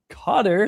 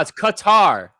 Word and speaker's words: Qatar: I'm pretty sure that's the real pronunc Yeah, the real pronunciation is Ku. Here, I'm sending it in the background chat right now. Carter. No, it's Qatar.